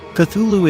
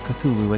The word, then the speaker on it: Cthulhu: transcribed the pronunciation of cthulhu as k h lol feet h lu and said the first syllable pronounced gutturally and very thickly the u is about like that in full and the first syllable